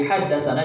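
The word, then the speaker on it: حدثنا: Sana juga nggak boleh dibaca sana, harus dibaca haddatsana. Jadi dalam penulisan doang ini.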